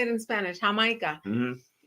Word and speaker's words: Jamaica: Jamaica.